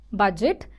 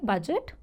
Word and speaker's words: budget: that's a word given for Budget budget simple pronunciation is budget budget though it's a e but it's pronounced as I budget okay the example of this word is on